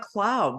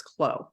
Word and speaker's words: Clow: Oh, it's Clow, not Cloud. Beautiful. No. Thank you for that. You're It's so welcome. funny. There's a company in Iowa that was not very far from me that was called Cloud. It's spelled the same way. So it's Clow.